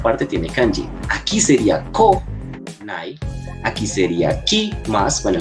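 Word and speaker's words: 来ない: Aquí sería ko, nai.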